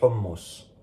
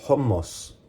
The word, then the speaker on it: hummus: le plus délicieux des hummus. Pour ce qui est de la prononciation, on dit hummus, hummus, comme c'est chaud.